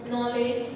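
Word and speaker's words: knowledge: अब हम क्या है 19th सेंचुरी से क्या है के साइलेंट होने लग गया, नो, नॉलेज, नाइफ, ठीक है। बट 16th सेंचुरी में क्या होता था, कनो, कनोलेज, कनाइफ, के क्या है उसको प्रोनाउंस किया जाता था, वो साइलेंट नहीं था।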